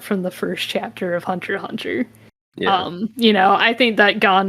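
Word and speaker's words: Hunter × Hunter: Oh, Maybe that's the X in Hunter X Hunter. oh, you don't pronounce the X.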